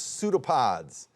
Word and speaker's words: pseudopods: - Oh, it did start with a P, but it's pseudopods. The P is silent.